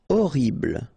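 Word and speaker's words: horrible: attractive okay e l orble okay first letter is Ash but then we don't pronounce Ash so you don't pronounce it and the first thing you hear is O orble mayor okay same thing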